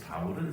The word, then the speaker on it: 바울: 이제 그 이름을 바울이라고 그 바울은 사실이 우리나라 발음입니다 바울 원래는 바울로 바울 그 정도의 발언이고 그리 영어권에서는 폴이라고 합니다 폴 영어권에서는 바울이라고 하 바울 하면 영어권 사람들은 무슨 말인지 알아 무슨 뜻인지 알아듣지를 못해 폴 하면은 아 세인트 폴 아니 아포스